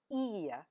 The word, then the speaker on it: ihr: Now the informal form of you for singular is do and for the plural form it's e spelled ihr.